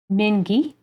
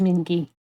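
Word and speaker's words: Mingi: I was pronouncing it mingy M mingy like it's minky so I feel like if it were G it would be a j right there oh please do correct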